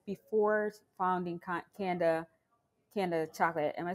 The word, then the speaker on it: Kanda: self-sustaining wondering though what you said before founding canada canada chocolate am i saying it correctly mm-hmm but i but i welcome everyone that i'm not a stickler so it's candid chocolates but i welcome everybody yeah candle panda